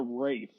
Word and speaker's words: Ralph: Also, did you say Ray Fiennes? Is that how his name is pronounced? Yeah, I thought it was Ralph Fiennes, but every time that I've heard someone like interview him or talk to him, it's always Rafe.